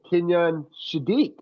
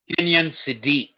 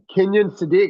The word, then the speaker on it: Kenyon Sadiq: no, I think it's the Kenyon Shadiq. Or did I say his name right? Kenyon Sadiq. Yeah, Kenyon Sadiq.